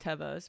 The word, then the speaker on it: Teva: But Pickle chewed my, I call them Tivas. I know they're pronounced Tevas, but my tried and trues.